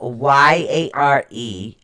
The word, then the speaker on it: Jera: Okay, it is actually spelled Jera. It's pronounced Yare-Awe.